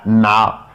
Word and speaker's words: مع: Le 3, ça se prononce ma.